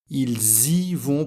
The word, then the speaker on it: ils y vont: pour le marathon alors attention ici à cause du S on doit faire la liaison entre le sujet et le pronom i ils y vont pour le marathon la même chose pour